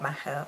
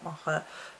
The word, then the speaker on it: Macha: store, which is actually for Macha or Mocha, depending on your pronunciation.